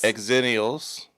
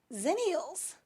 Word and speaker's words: Xennials: Exennials. Zennials.